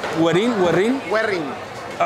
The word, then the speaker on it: Güerrín: ¿Werin? ¿Werin? Werin. ¿Ha pronunciado todo el rato mal? Ni Werin ni Werin. Werin porque tiene el doble acento en la U.